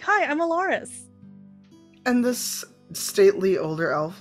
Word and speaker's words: Elaerys: Alaris, that's spelled Elaerys.